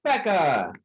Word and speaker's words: Becca: She lives behind our set list, and her name rhymes with Tekka. It's Becca.